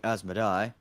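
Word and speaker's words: Asmodai: a smith's behavior he he pronounced it as midday it's actually asmody you know that dark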